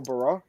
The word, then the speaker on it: Barra: Daniel Barra? No. Barra. Yeah, actually, I went and looked at the media guide. That is correct.